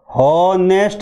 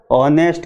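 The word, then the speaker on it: honest: एन ई एस टी, इसको हॉनेस्ट नहीं पढ़ेंगे, ऑनेस्ट के स्थान पे इसको ऑनेस्ट पढ़ेंगे, ऑनेस्ट। एच इसमें साइलेंट है, ये एक अपवाद स्वरूप बात है।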